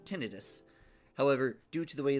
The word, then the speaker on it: tinnitus: Because technically, it is pronounced tinnitus.